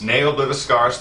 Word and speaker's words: Ne Obliviscaris: Ne Obliviscaris.